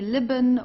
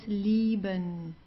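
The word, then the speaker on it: lieben: the Deep Thea Thea here you also have an i e so it's a long I DTI leben to of leben okay so you don't say libon or so it's liben the German L is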